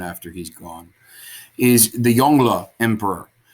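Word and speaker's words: Yongle: he's gone is the yongla emperor i know it looks like yango it's not it's yongla or at least as best as my pronunciation can manage uh the yonga emperor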